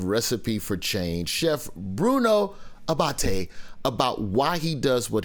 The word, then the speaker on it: Abate: exact titles uh but chef bruno abate did i pronounce that right brother abate yes yes perfect yes yes you see